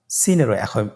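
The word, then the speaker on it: سين: সিন কোন জায়গা থেকে উচ্চারিত হয় ছবিতে দেখতে পাচ্ছেন জিহ্বার আগা সামনের নিচের দুই দাঁতের পেট ও আগার সঙ্গে লাগিয়ে উচ্চারিত হয় জয়ের মতই জয়ের যে মাখরাজ সিনের একই মাখরাজ আপনারা সিন হরফটি আবার উচ্চারণ করুন সিন আবার উচ্চারণ করুন সিন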